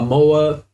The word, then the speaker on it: moa: bird right here this one here is a mo if you didn't know uh MOA is like a lawn mod you know you cut the grass with that's the pronunciation of the the word MOA but this